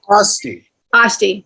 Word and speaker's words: Estes: And Dave Estes, am I pronouncing that correctly, Drake? Osti, thank you.